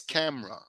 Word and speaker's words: camera: now the the the the American when they say this word they usually pronounce two syllables so they don't say C okay what they actually say is camera camera camera a camera camera okay and does anybody have